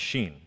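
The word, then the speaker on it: shin: in jerusalem now the the 21st letter of the hebrew alphabet is pronounced sheen and it's uh that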